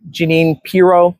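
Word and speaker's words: Jeanine Pirro: Janine Piro, I think is how you pronounce it, and is now the US attorney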